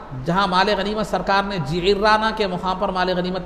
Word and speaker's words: جعرانہ: ہے آج، مسجد جعرانہ مختلف اس کا تلفظ ہے، لیکن صحیح تلفظ جعرانہ ہے، جو ہے نا عین کے زیر کے ساتھ اور را کی تشدید کے ساتھ۔ تو وہ وہاں مال